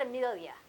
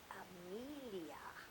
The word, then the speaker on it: Amelia: So is that It's not Amelia, it's Amelia. Amelia.